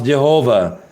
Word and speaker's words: Jehovah: In English language, there is no problem to pronounce Jehovah.